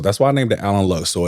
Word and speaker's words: Alan Lux: So what's next and I did mispronounce the name of your studio. It is Allen Lux Studios.